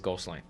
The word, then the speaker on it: Goslin: It could be some of the pronunciation, but the French Canadian it is Goslin.